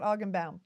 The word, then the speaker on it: Augenbaum: Scott Augenbaum.